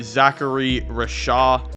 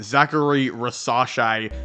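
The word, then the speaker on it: Zaccharie Risacher: Well, I do have them taking Zachary Rashad. Hold on, scratch that. I definitely mispronounced his name. Zachary Rasache, I should say.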